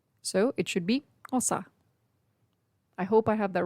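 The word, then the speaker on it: Xhosa: madiba clan of the hosa speaking temboo people it's actually spelled x-h-o-s-a and the x is usually pronounced with a click so it should be ossa i hope i have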